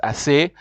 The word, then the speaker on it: ces: Then you have the CES, which is pronounced assez, as plural.